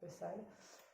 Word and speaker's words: Bethesda: And she was in the Bethesda Hospital. Okay. How do you say it? Bethesda?